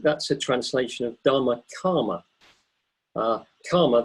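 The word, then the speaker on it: kāma: a translation of Dharma karma karma that's K a with a with a line over it which means it's a long a K long a and a karma and it's the same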